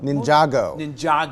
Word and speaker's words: Ninjago: Ninjago.